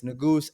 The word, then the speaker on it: Nigus: If you want to reach me on my personal, it's Nigus, Niagosee. It's spelled Lot of letters.